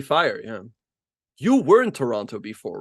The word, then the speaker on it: Toronto: Toronto it's very nice I say Toronto they say hey you're not from here because I always would say the extra T like I would pronounce them both because there's two T's but apparently it's Toronto so it's nice out